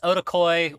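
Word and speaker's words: Wotakoi: And that's Otakoi with a W at the front, Rem. The W is silent.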